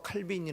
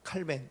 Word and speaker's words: 칼뱅: 이제 칼뱅 칼뱅 아시죠 칼빈이 라고도 우리가 부르고 그쪽 본토 발음 이제 칼뱅 칼뱅 이라고 하는데 이 칼뱅 있은 기독교